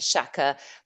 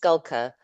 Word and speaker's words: Schalker: sorts of things from shel to shaka but it's actually pronounced skulka like skulking around in the bushes which is one of